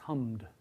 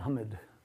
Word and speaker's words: hummed: past tense of hum, although we spell it with an E before the D, if you say it, I think there's only one vowel in that word. It's hummed, right? We're not saying hummed.